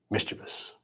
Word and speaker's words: mischievous: But it's officially mischievous. Rhymes vicious.